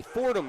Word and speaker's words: Fordham: section by the way Fordham University foreign it was two syllables it was red red school yeah it sounded right thank you Miss Flannery